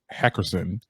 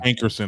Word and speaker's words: Hankerson: okay so apparently elia's uncle and manager barry heckerson made a new social media page did i say it right hey christina hankerson okay there we go uh made a new